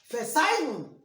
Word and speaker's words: Verzeihen: Verzeihen. This Z, remember, is pronounced like you are saying TS.